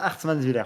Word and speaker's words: Hartmannswiller: Ah, Hartmannswiller, oui. Voilà. Très bien prononcé, très bien.